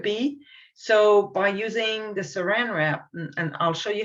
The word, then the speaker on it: saran wrap: say this because i i would be tempted to say sarin wrap but it's saran wrap and someone showed me